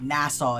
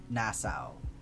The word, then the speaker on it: Nassau: Like that is that is that is like an American like Nassau is an American pronunciation. So I was like struggling to get my brain around saying that not the American way.